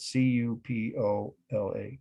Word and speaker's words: cupola: And I'll spell that C-U-P-O-L-A, cupola.